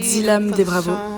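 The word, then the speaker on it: Dzilam de Bravo: Enfin bref, Dilam des Bravos. Et j'ai enfin réussi à prononcer son nom.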